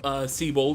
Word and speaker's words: Siebold: Actually, yeah, it is pronounced Seabold if I remember correctly from the Mega Evolution specials.